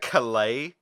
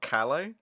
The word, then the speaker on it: Calais: They pronounce it Calais, not Calais. That's annoying. Like that's stealing valor from the French port.